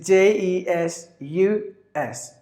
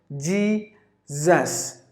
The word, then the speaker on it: Jesus: sound in English language if you find the s in between the vowels the s must be pronounced like the Z and that's why it is Jesus there are only two